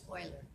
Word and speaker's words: Euler: Euler is how you say it.